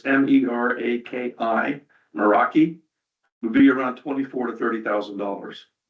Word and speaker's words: Meraki: They said the best system, and I'll mispronounce this, but it's MERAKI, Meraki, would be around $24,000 to $30,000.